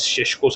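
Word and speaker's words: Šeško: And why wait for two weeks for Cesco is because uh Cesco Shesho I think his pronunciation is Shesho.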